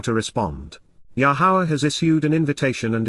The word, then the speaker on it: Yahowah: from, Min, within, the family, Baith, household of Yahowah, Yahowah, the proper pronunciation as directed in his Torah, teaching.